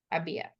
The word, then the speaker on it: había: Abia. It's the accent on the I, right?